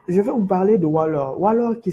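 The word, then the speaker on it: Whaller: Donc, je vais vous parler de Waller. Waller qui s'écrit W-H-A-2-L-E-R.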